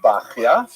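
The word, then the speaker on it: Bachya: The customary pronunciation is Bachia, but it's not a regular Hebrew spelling at all. Bachia would be something like Beit Chet Yud Hey, maybe, but people say Bachia.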